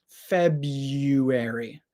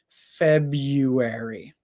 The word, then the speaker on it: February: that I say it February instead of making the first R sound we make a y sound February February so repeat after